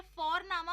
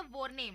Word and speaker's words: Vorname: और जर्मन में हम जिस तरह से लिखते हैं, लिखना और प्रोनाउंसिएशन अलग होता है, तो इसलिए तुम सी साई में कंफ्यूज हो जाते हो। और हम यहाँ पे फोरनामा प्रोनाउंस करते हैं बट लिखते हैं उसको VORNAME। ओके, तो वो हम इंग्लिश के अनुसार प्रोनाउंस करेंगे तो बनेगा वॉरनेम, बट नो, इट्स फोरनामा।